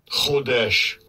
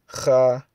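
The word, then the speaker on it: חֹדֶשׁ: Chodesh. Chodesh. That's the Yiddish way of pronouncing it, but in the Paleo Hebrew, the Lashwan Kadash, the pure Tzalakia, the Lashwan Kwadash, the pure tongue, it's Chadash.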